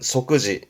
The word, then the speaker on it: 即時: 발음은 소끄지.